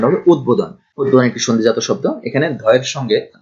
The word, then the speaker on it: উদ্বোধন: যেমন এখানে আছে উদ্বোধন, এই শব্দটি অনেকেই ভুল করেন, অনেকেই এটা উচ্চারণ করে উদ্বোধন, আসলে এখানে উদ্বোধন না, উচ্চারণ হবে উদ্বোধন।